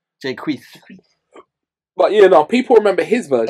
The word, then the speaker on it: Jacquees: It's not Jake. People remember his version. Jacquees. No, but people remember his version. You gotta say his name like you got lisp. Jacquees.